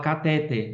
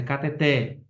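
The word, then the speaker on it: cateter: Muita gente fala catéter, mas é cateté, né?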